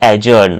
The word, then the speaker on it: adjourn: Once more, defer means postpone, delay, put off, reschedu or ajourn. Here d will remain silent. So this pronunciation will be ajourn.